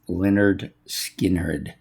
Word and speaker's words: Lynyrd Skynyrd: of Lynyrd Skynyrd and it says underneath it pronounced Lynyrd Skynyrd.